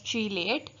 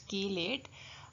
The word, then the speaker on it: chelate: it is pronounced as chiliate but I will prefer to say kill it as we say chemistry so it's key late what is chelate when